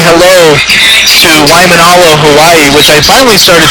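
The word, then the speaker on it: Waimānalo: Cougars bringing the fans to their feet here in set number 2, and I'm supposed to say hello to Waimanalo, Hawaii, which I finally started saying it correctly thanks to Keala Keo Perez's family telling me how to properly pronounce the name.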